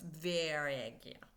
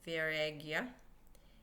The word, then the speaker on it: Vairagya: Vairagya. Viagra. It sounds like Viagra. Maybe that's where Viagra comes from. I don't know. But it's Vairagya.